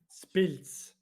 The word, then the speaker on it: Spiltz: So it's not split because everyone wants to say split, but it's not split. It's Pils. Spiltz. Like you know the beer Pils. It finishes the same way.